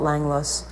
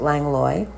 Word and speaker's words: Langlois: how you pronounce it the locals call it langlass but everyone else calls it lang loy is ultimately where i